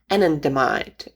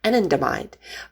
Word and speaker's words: anandamide: The name of this neurochemical is also fancy, anandamide. I had to look it up how you pronounce it actually, because I see it in